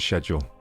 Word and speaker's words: schedule: Because obviously there's a CH in there, which should be a SK sound. It shouldn't be a sh sound. Yeah, it makes no sense to pronounce it schedule.